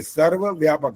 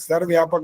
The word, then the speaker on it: सर्वव्यापक: पूरा बोलना होता है ये सर्वव्यापक सर्व्यापक नहीं होता सर्व अलग शब्द हो जाता है और व्यापक अलग तब मिला के इकट्ठा बोलो तो बोल सकते हो लेकिन शब्द का उच्चारण ठीक होना चाहिए चलिए एक तो आपको